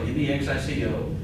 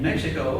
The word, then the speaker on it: Mexico: is the word Mexico m-e-x-i-c-o the common English pronunciation is like the X example Mexico but in Mexico or other Spanish-speaking countries you might hear it pronounced with this H sound and that would be